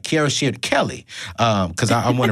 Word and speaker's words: Kierra Sheard: minute of this show kiara shared wait i got to say it right cara shared kelly um because i